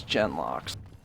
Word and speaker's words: genlock: see I'll do it take that loot these gen locks yeah son I did check on the pronunciation is genlock goodness small bloody sack bag